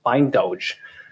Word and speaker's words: Bindoj: about the name uh why is it called bind OJ well or another question is why do we pronounce it by indulge um actually the name